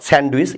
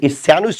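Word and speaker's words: sandwich: আমরা বলি স্যান্ডউইচ model right not স্যান্ডউইচ স্যান্ডুইচ model এর উচ্চারণ হয় না তাইতো স্যান্ডুইচ মডেলের যদি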